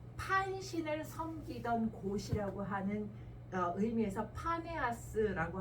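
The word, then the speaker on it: Banias: 섬기던 곳이라고 하는 의미에서 파네아스라고 하는 이름으로 불렀는데 그것이 이제 아랍 사람들이 발음을 하다가 밤에야스 바니아스라고 하는 이름으로 불러요 혹시라도 성기술력 관련해서 바니아스라고 하는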